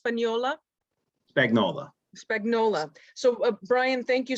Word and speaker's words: Spagnola: Okay, so we have Brian as your name is pronounced Spagnola? Spagnola.